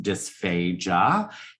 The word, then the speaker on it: dysphagia: It is pronounced dysphagia, and really all that means is not much more than there's a problem with your swallow.